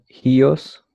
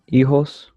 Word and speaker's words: hijos: The H is silent, so it becomes hijos.